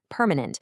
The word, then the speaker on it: permanent: Next, we have permanent. Make sure you stress the very first syllable, permanent.